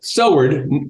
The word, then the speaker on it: Soward: said you got it Soward oh not ow in Kentucky I think it's pronounced sour okay all right good